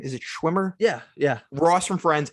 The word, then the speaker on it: Schwimmer: Is it Schwimmer?